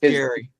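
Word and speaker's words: Gerry: Yeah, Gary, New York. But it's called G E R R Y. New York. Yeah. It's pronounced Gary.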